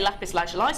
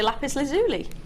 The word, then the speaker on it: lapis lazuli: one of those that some people say lapis leli some say lapis lazuli have you not there